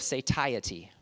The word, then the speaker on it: satiety: Now, I actually did a search on that word and went to different websites that pronounced it because I didn't know how to pronounce it. So there might be other ways to pronounce it, but that's how they said it, satiety.